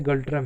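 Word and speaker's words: ngultrum: Important है, examination point of view से बहुत पूछता है, क्योंकि इसका प्रोनाउंसिएशन बहुत अजीब सा है। नागल्ट्रम लिखा हुआ होता है, पढ़ते गल्ट्रम है।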